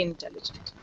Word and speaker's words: intelligent: He's very intelligent. Now when I say intelligent, what am I doing? I'm swallowing the first IN.